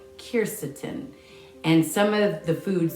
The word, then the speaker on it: quercetin: looking for stuff that has kirsatin in it and that's what the q q u e r c i t i n i believe that's how it's spelled kircetin and some of the